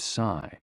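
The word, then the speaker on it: sī: shh, with a deep sigh, which is associated with the liver. HE, pronounced like her, with a yawn, which is associated with the heart. SI, pronounced like sir, with a slow exhale, which is associated with the lungs.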